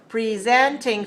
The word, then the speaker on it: presenting: this is a verb to present is a verb so the stress is on the second syllable so we need to say presenting three stress a second presenting okay ask me